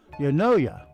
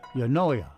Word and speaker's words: eunoia: The shortest English word that has all 5 vowels is Eunoia. E-N-U-O-I-A. Eunoia. I know it's pronounced correct because they gave me the pronunciation here.